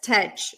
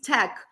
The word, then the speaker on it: tech: Tech. I hope you're not saying it as tech. No, it's tech, technology, technical, right? So it's tech.